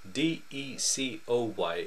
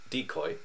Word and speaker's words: decoy: d e c o y will discuss without a fuss as a noun it is pronounced decoy as a verb it is pronounced decoy as